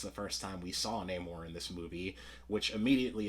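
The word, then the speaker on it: Namor: a great job building Neymar up as a threat or uh now more as he pronounces it no more uh so Neymar was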